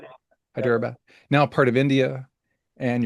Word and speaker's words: Hyderabad: You grew up in Houston, Texas, son of immigrants from Hyderabad. Is that the proper pronunciation? Hyderabad. Yeah. Hyderabad.